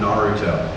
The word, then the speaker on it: Naruto: i could get away with just calling him naruto everybody else taps that r do you like that japanese pronunciation where your r is kind of like